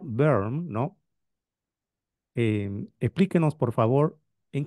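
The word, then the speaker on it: Böhm: sierva de Dios d Antonieta se pronuncia berm no explíquenos por favor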